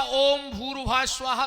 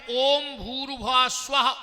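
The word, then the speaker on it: ॐ भूर्भुवः स्वः: ध्यान से सुनना हम हम लोग सीधा ओम भूरवा स्वाहा तत्स वितुर्वेणीयम से बोलने लगते हैं। जबकि शुद्ध उच्चारण है ओम भूर भुवा स्वाहा ओम फिर ओम लगना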